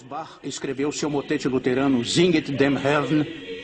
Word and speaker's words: Singet: Então, no coro 2, ele começa com a palavra Singet, 2 sílabas. Singet, singet.